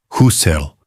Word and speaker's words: Husserl: Husserl, sem trema. Nunca houve trema.